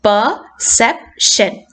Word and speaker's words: perception: So perception, sepനെ you have to underline, that is where the stress falls.